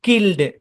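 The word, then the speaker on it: killed: যেমন দেখেন প্লাগড, এটা ইজি ভাই, ইটা সাইলেন্ট থাকবে, এটা মনে রাখেন। এটা এখানে প্লাগড, প্লাগড, কিল্ড।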